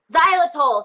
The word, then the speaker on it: Xylitol: Have you ever heard, and I might pronounce this wrong, but Xylitol, it's like Xyitol. Xylitol. Xylitol, thank you.